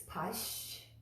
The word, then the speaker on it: Paśyantu: Right after that sound is the ya sound right away. So it's Paśyantu. When you put it all together, Paśyantu. And that tu again is the on the back of the teeth.